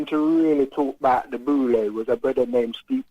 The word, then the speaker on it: Boule: we call it the Boule. How do you spell that? B-U-L-A-Y. B-U-B-O-U-L-E. Listen, man, I think one of the first people to really talk about the Boule was a brother named Steve Coakley.